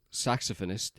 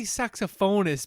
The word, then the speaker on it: saxophonist: he's a talented, successful saxophonist, and he plays. I would say saxophonist, but I guess that's not how you pronounce it. Saxophonist. Well, it's like, you say telephonist, you don't say telephonist.